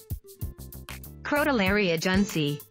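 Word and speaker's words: Crotalaria juncea: lady came along and told me how to pronounce it, like this. Crotolaria junsei.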